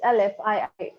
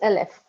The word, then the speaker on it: Elif: Elif. Elif. Elif. Wow. No, the pronunciation is Aleph. Oh, Because I okay. know Turkish pronunciation for that. So it is Aleph.